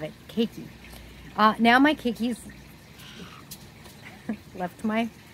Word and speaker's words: caique: That's how they pronounce Caique in like Australia or somewhere, and I love it. Caique.